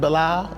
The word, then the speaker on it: Belle Isle: That is pronounced Belial and not Belle Isle.